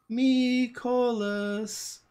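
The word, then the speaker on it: Mikolas: you on the show I prefer the Ricola pronunciation me call us it's more fun to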